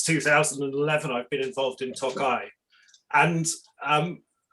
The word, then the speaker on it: Tokaj: remember that that um the little eye on the end is is the wine it is from tokai and the town does not have the eye on it we spend a